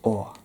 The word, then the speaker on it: Å: So it's an A with a ring over it, and it's pronounced Å.